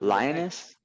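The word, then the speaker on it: Linus: His name's Lionus and he made this thing. I'm going to call Linux because it ends in Lionus, but it's Lionus.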